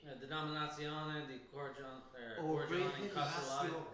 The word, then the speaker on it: Controllata: I can never pronounce Italian. Denominazione di Origine Controlli. Denominazione di Origine Origine Controllata.